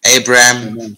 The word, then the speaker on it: Abram: So there we see Abram or Abram, Nahor, and Haran. That is the correct pronunciation for those.